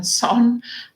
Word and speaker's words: Saône: and the Saône, in French it's Rhône and Saône, but in English we pronounce it Rhone.